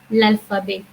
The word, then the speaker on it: l'alphabet: Last T, which is the I would say that is the last consonant. Most of the time, we do not pronounce in French language. So the pronunciation becomes l'alphabet.